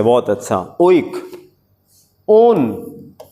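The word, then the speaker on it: -one: ओन, कीटोन, नॉट वन, spelling same है but chemistry में इसको ओन कहते हैं।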